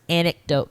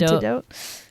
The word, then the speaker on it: anecdote: Here's my first anecdote, guys. Okay, so this is about obviously gangsters. Wait, did you say anecdote again? Anecdote. Okay. Anecdote. Antidote?